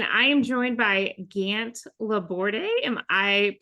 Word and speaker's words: Laborde: pronouncing that correctly just La board just La board I keep doing that Gant La okay so the E is silent everyone yes yeah it's a it's classic French so it's as annoyingly